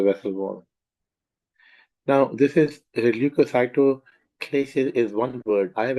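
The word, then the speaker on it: leukocytoclasis: destruction of the vessel ball now this is lucyo clis is one word I have actually broken it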